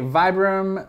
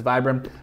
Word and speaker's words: Vibram: This here is a Vibram mini lug sole. I know I'm supposed to say Vibram. That's technically the correct pronunciation. I don't care. Everyone says Vibram.